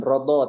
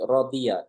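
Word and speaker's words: رضي: Bunyinya dibacanya bukan rodo tapi rodia.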